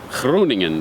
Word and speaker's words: Groningen: More specifically, the fair city of Groningen, or as my online research has told me, it is pronounced Groningen.